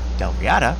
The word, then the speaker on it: Dalriada: However, when Kenneth McAlpin of Dalriada conquered the Picts, this started a unification process with...